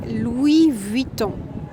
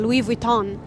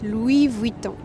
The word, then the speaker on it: Louis Vuitton: And so about pronunciation, you say Louis Vuitton. This is how we pronounce, and not Louis Vuitton, like you would say in English. Louis Vuitton.